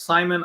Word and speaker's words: Saimon: I think that's one of those ones where it's, spelled Saimon, but it's pronounced Simon.